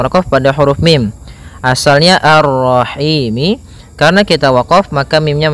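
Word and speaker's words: الرَّحِيم: Maka kita baca ini kita boleh memanjangkan dua harakat, empat harakat ataupun enam harakat. Contoh arrahim itu dua harakat. Kalau ee apa namanya? Kalau empat harakat arrahim ya.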